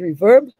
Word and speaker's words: RVRB: on this outstanding initiative our reverb rvrb i believe they pronounce it reverb which has brought us